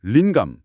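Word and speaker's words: LiNGAM: 강의에서도 소개된 린감. 링검이라고 읽습니다.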